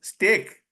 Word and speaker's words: steak: a fried fish beef the spelling is s a k but it is pronounced steak this pronounced stake so English language is